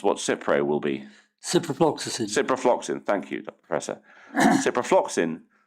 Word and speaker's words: ciprofloxacin: And then for, I can never pronounce what Cipro will be. Ciprofloxacin.